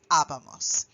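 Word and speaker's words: hablábamos: The big thing to remember here is that you have an accent on this A and that you do have to punch that in terms of the pronunciation so that you say habamos.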